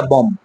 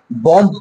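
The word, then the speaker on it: bomb: কিন্তু beta silent থাকবে, এখানে আমরা পড়বো এটা বম, কি পড়বো এটা? বম্ব পড়বো না, বম পড়বো শুধু, ওকে? বিটা সাইলেন্ট থাকবে।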